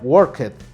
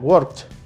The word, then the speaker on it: worked: terminar en el b pero no necesariamente se va a pronunciar como se escribe no se pronuncia en el caso del ejemplo que hemos utilizado no se pronuncia worked se pronuncia words con una t al final entonces este sonido de